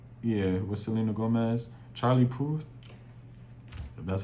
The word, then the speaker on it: Puth: Yeah, Charlie Poof. Poof. That's how you say his name. And I think it's Selena Gomez. Yeah, with Selena Gomez. Charlie Puth.